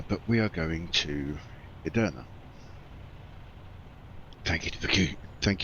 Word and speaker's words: Edirne: always for some reason I've always swapped the r and I've ended up putting the r between the E and d and calling it ered